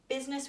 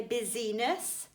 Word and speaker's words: business: Okay, business, we don't say busyness.